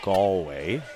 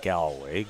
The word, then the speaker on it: Galway: It's Galway, not Gallway. Galway. Galway. The proper Yes. Irish and Newfoundland pronunciation.